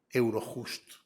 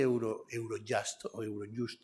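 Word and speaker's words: Eurojust: cierto también está cooperando Euro justo mucha gente dice Euro jasto Pero si hablamos en español porque no pronunciar la J como se debe la unión además ha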